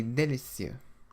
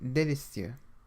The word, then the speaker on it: délicieux: The letter E with an acute accent, like the one in délicieux, should be pronounced like the vowel sound in the English word pay, but without the Y sound, e.